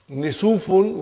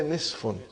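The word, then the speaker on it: نصف: Instead of saying, brother and sister, instead of saying Nisufun, we say Nisfun.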